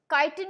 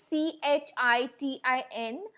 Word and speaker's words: chitin: that the body is covered with a tough chitin is cuticle okay now i'd like you to